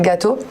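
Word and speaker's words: Gatto: Village francophone, on a un commissaire général qui s'appelle Marc-Lionel Gâteau. D'accord. Gâteau, exactement. Comme un gâteau. Oui, voilà. Ça s'écrit différemment.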